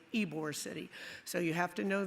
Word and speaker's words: Ybor City: And that's the way it's pronounced. It's not Ybor City, it's Ybor City.